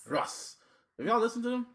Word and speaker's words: Russ: Well, like last week, I guess blogging, the music blog shit was really up in arms off of dude Rush. How do you say his name? Russ.